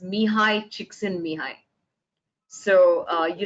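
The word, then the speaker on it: Csikszentmihalyi: looking for for flo his name's pronounced says mihai chiksin mihai so uh you said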